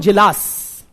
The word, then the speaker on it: Djilas: Frank Parkin and Milovan Jilas, MILOVAN, N for Nagaland, MILOVAN, Jilas, DJ, हाँ D silent था थोड़ा, Milovan Jilas, MILOVAN, DJILAS, क्या हो गया ना?